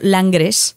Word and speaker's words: Langres: Pues mira, hay un queso que se llama la se escribe y se se pronuncia en castellano Langres, que es un queso muy pequeñito, también tiene un aspecto así como bastante inocente, ¿no?